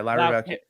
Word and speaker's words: Lyra Valkyria: How do you pronounce this girl's name? Lyra Valkyria. Yeah, Lyra Valkyria.